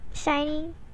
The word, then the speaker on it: SHINee: just just accept it just accept shiny like a group name yeah also it's spelled